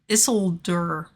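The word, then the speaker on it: Isildur: enough uh Scroll of issolder stop making a fake accent Yanks that's how you say it it's a sealed bear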